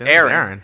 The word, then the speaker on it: Eren: It's Aaron.